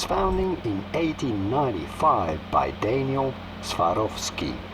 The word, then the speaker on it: Swarovski: business since its founding in 1895 by Daniel Swarovski how do you about pronouncing it in English swarovki of ski Swarovski pretty straightforward once you know Swarovski jewelry company